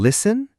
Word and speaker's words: listen: Like in listen? Exactly. The T is silent.